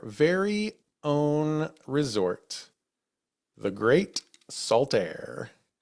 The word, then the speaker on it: Saltair: own Resort the great Sal air K that is that's one word Sal air salir okay not salt it's spelled like salt air right but the kerning just